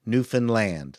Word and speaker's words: Newfoundland: And the way you pronounce it is understand Newfoundland. That's how you pronounce Newfoundland.